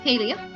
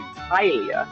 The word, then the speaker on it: Halia: Oh, I really misheard you. I thought you said Kylia. That wasn't even close. Halia. Mm-hmm. I'll spell it for you guys in the chat. That's okay. Halia. Oh, yeah, I was way off on that.